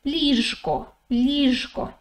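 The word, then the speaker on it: ліжко: say okay if you say it slowly you pronounce the letter zhu in the middle properly right you say lisko okay but if you say it quickly it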